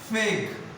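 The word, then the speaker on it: feign: Fake. F-A-I-G-N. Fake. N is a silent.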